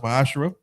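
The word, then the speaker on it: מעשר: Means 10th in Hebrew, is pronounced Ma'ashra.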